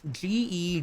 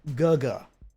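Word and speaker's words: 哥哥: regions, but it is G E G. I think that's an abbreviation in a different language for older brother. Uh, however, it's not pronounced ge as you would expect. It's pronounced gaga.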